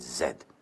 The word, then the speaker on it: Z: state of Massachusetts, then you would pronounce the last letter of the alphabet Z. But no, you pronounce it zed.